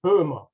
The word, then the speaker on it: Boehmer: It's Boehmer with a Yep. German umlaut, but now Right. spelled with an OE. Makes it a little bit easier. Yes. So, Boomer. Did I say it right?